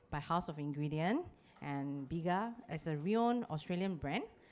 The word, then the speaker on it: Bega: with bega group have you all heard of Biga yeah I also pronounce it wrongly sometimes Biga so the actual pronunciation is called biga biga yeah but if you pronounce it bega then you'll be very malayaka so the actual